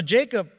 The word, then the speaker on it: Jacob: Like Jacob is actually Yaakov in Hebrew, or the way it's pronounced, not Jacob. We pronounce that in English.